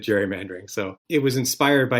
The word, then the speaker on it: gerrymandering: i guess technically there's somebody listening to this who's going to say it's gary mandering because the guy's name was elbridge gary but everybody pronounces it gerrymandering so it was inspired